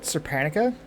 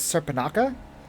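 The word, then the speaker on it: Surpanakha: So I've been told I pronounced this spell wrong. I called it Serpanica. Apparently it's Serpanaka.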